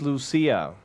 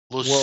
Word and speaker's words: Lucia: yeah I have Saint Lucia Larry it's amazing that you continue to keep getting the pronunciations wrong that's Lucia Ziya yeah well there's it's in French honk Lucy see I don't